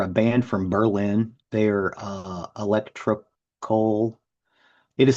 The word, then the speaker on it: Elektrokohle: They're electrocoal. It is spelled Elektrokohle.